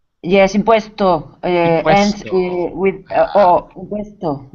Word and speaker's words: impuesto: Is it imposto? Yes, impuesto ends Impuesto.